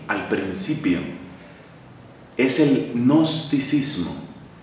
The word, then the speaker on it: gnosticismo: s m o gnosticismo Pero por qué se escribe con con esa g que no tiene nada que ver con el sonido que uno luego dice esa g es como muda un caso singular en